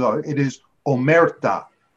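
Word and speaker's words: omertà: passing yellow passing oh okay sorry Mike the pronunciations are it is omerta omerta the rule of silence my people know this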